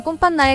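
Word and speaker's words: con panna: 이태리 실제 발음은 꼼판나에 가깝습니다.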